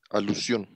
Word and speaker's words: alusión: eh, la anáfora hace ilusión a un nombre que viene antes en el discurso. ¿Hace Ejemplo, ilusión? es alusión. Ah, tiene que tener cuidado al pronunciar, ¿no?